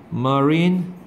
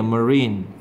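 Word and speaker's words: marine: 있어요 손리 되게 엄혹하고 마린 마린이 아니라 린이야 머린가 아가 아니야어야 린 이거 있으면 큰일 난다 있으면은 시체란 뜻이 돼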